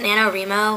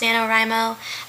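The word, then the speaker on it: NaNoWriMo: known as Nano rimo I think it's pronounced I think a lot of people pronounce it nanoro which I think sounds a lot better but since wri is supposed to stand for right I'm thinking it's pronounced nanor rimo I really have no idea but I'm going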